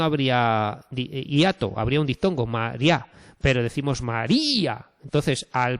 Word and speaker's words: María: Si tenemos María, el nombre de María, tenemos tres sílabas aquí, María, ¿vale? ¿Y qué pasa? Pues que tenemos una vocal cerrada tónica, que es la i, y una abierta átona, que es la a. María.